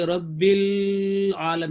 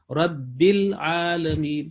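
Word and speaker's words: العالمين: جیسے یہ غلط ہوگا کہ رب العالم، یہ نہیں، یہ نظموں میں چل جاتا ہے لیکن تلفظ میں نہیں چلتا. یہاں پہ ہوگا رب لام کلیئر ہو رب العالمین.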